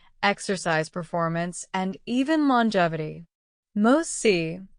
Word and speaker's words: MOTS-c: MOS, pronounced MOS, is short for mitochondrial open reading frame of the 12S ribosomal RNA type C.